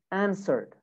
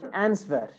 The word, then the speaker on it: answer: played normal d answered answered now some students pronounce this pronounce this word like answer this is wrong it's not answer it's answer the w is silent actually answer burned burned